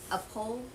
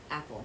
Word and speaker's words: apple: My teacher taught me that you pronounce apple like a pole. And when I grew up, one of my friends told me that you should pronounce it like apple, yeah.